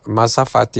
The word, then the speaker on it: mazafati: Mazafati is spelled m a z a f a t i.